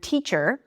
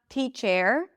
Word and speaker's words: teacher: As in, let's take the word teacher. Okay? The letter e does not represent an actual sound. It's a schwa sound. Okay, it's not teach chair, okay, or anything like that.